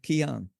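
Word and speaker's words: Cian: have to ask you is it Canan or is it pronounced Chan or like how's it pronounced yeah it's a good question it's a Keon Keon okay because Squad it's spelled the one of the main characters his name is is spelled c i an and I now that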